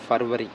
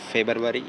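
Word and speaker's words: February: फरवरी, ठीक है, इसको बाद लोग बोलते हैं, बाज़ लोग बोलते हैं फेबरवरी, ठीक है, लेकिन ये फरवरी है, ठीक है। बी यहाँ पर खामोश है।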